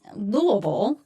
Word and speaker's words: Louisville: It is called the Judgmental Podcast with attorney Christine Miller and attorney Hugh Burrow from Louisville or I should Louisville is the proper way to pronounce it.